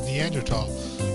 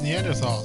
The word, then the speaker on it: Neanderthal: your lectures you use neanderthal i've always heard it as neanderthal is it a preference a preference and there's no h sound when it's pronounced in french oh she french you